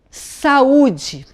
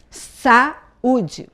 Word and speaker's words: saúde: Vou dar um exemplo de uma palavra que tem dois sons de vogais bem fortes. Saúde. Saúde. Você tem que falar cada vogal, cada som desse de vogal, numa sílaba, porque não tem como falar junto. Se eu falo junto, fica saúde. porque um som é uma vogal completa e o outro som fica reduzido e eu chamo de semivogal.